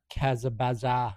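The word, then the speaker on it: Kazabazua: And then there's a bit of a story of young love in uh Kazabaza, Quebec. It's pronounced as it's spelled.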